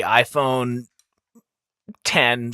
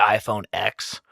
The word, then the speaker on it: iPhone X: about it or well I think the iPhone 10 suffers from the fact that it's not called the iPhone X first of all they should just be iPhone have I been saying it wrong did it jump from eight to ten yeah I assumed it was X because there's no nine correct right and I